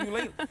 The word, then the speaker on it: Ulele: How do we pronounce it? Ulele. Ulele.